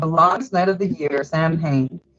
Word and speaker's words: Samhain: the time of Allah instead of the heater Samhain pronounced Allen sowwy so when I'd not though that it says Sal when Sam he was started the same hey Sal win okay I go back every back of my